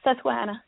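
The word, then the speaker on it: Susquehanna: reading this correctly, but the uh Susahana Speedway, is that pronounced correctly? Yes, Susuana.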